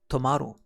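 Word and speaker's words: 止まる: the side stops now the kun reading for this kanji is tomorrow we can remember this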